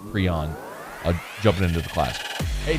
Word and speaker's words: Prean: But nice to get a big in-state get there for Brian Kelly and the squad with Khai Prean, Prean, I'm told it's pronounced Prean, jumping into the class.